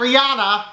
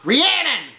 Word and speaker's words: Rhiannon: you love me and Rhiannon not Rihanna Rhiannon he pronounced eating bad